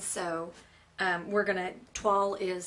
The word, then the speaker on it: toile: um we're going to TW is spelled t o i l e and it's pronounced like wall but TW okay and it's a French word and it's this tone